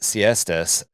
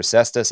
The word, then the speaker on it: Cestus: And so the ultramarines captain Lissa Lissamakus Siestas Cistas Cestus not Cestus not Siesta no Siesta